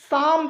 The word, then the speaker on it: psalm: तो हम लोग इसको लिखते तो कुछ और हैं, लेकिन हम लोग जो इसका एग्जैक्ट प्रोनाउंसिएशन होता है इसको क्या पढ़ते हैं, साम पढ़ते हैं।